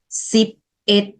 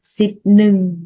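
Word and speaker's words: ສິບເອັດ: Từ một này sẽ được đọc là it. Mình sẽ không đọc là nưng. Ok, ví dụ từ 11 tiếng Lào sẽ nói là sip it. Mình sẽ không nói là sip nưng.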